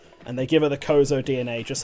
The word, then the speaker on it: Chozo: to be yeah i always pronounce it kozo i don't know if that is accurate maybe someone else can but i've always said kozo with the silent h that's just me though